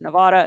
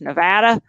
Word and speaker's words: Nevada: Actually, I've been told that's not how you pronounce Nevada, it's Nevada.